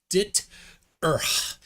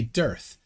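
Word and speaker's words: DITRH: He calls himself Deep Inside the Rabbit Hole, which when you spell it out is dit-erth. But it looks too much like dearth to just not say dearth. So that's what we say. We say dearth.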